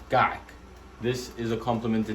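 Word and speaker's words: kaak: It's kak. K-A-A-K, pronounced kak.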